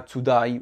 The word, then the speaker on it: today: N'hésitez pas à mettre l'accent tonique ici, d'accord? Là aussi, pareil, l'accent tonique ici. Donc, vous voyez bien, l'accent tonique ici, il est sur la 2e partie du mot.